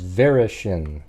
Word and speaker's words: Varaschin: it's like uh Sonia I think it's varishin I think is how you might pronounce that Sonia varishin so she